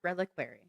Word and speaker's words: reliquary: It's pronounced reliquary.